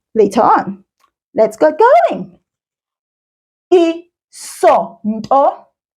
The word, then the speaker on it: Isonto: Isonto. Isonto.